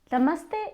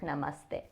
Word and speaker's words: namaste: Namaste is made up of two words nama and the nama means bow and the means you. So namas is derived from nama and then we get namaste.